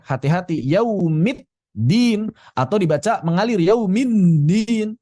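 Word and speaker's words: يوم الدين: Demikian pula, misalnya, pembacaan yaumiddin, pertengahan. Anda tidak bisa membacanya sebagai yaumind minin. Tidak bisa dibaca seperti itu. Yaumiddin. Yaumiddin. Middin. Hati-hati jangan sampai menjadi 't'.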